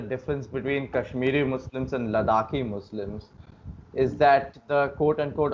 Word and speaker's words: Ladakh: Ladakh. Yeah, that's the accurate pronunciation.